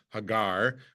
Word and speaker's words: Hagar: right so we say angiz Hagar in Hebrew Hagar but it's it sounds like the word in